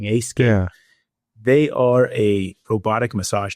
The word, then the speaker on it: Aescape: This one is called Aescape It's spelled like escape. But with an A at the beginning Aescape.